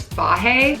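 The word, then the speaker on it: Fage: I think you pronounce this fahe, the 0% milk fat kind.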